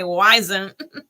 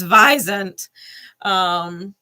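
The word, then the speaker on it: wisent: okay, Sage, and Visant, which is supposedly the way you pronounce it, because the American in me wants to say Wisant, but it's Visant.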